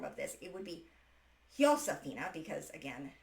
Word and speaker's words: Josefina: I keep pronouncing it Josephina, which is the European, or rather the English form of this. It would be Josefina because, again, Spanish doesn't pronounce J. It's pronounced as an H.